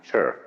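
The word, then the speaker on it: 事: First of all, there is a level of being which we will call Ji. The word Ji, which is Japanese way of pronouncing the Chinese Chur, is the world of things and events.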